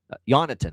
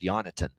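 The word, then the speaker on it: Jonatan: And I like another shot with Jonathan Jonathan, I should say. The J is silent. He corrected everybody with the pronunciation. He made sure this is a request from Berggren that he be called Jonathan recently.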